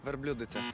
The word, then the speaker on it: верблюдиця: із словником не посперечаєшся Тож у цьому слові наголошуємо звук и верблюдиця верблюдиця верблюдиця ну